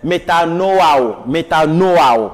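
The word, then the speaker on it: μετανοέω: La bonne prononciation, c'est métanoao. D'accord?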